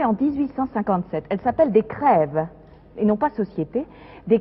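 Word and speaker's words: krewe: 1857 elle s'appelle des crève et non pas société des crèves ça viendrait de l'anglais crew et ce serait la prononciation française encore une fois le français en louisiane de croo anglais le crève la société prévient deuxième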